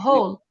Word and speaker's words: whole: It is the main idea for the oil essay, and Of and the it frequently whole. W is silent. of the Whole.